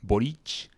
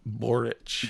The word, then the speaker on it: Boric: totally totally I I like this guy called borich well I like spell that can you spell that b o r i c borich yeah he's the president of Chile right now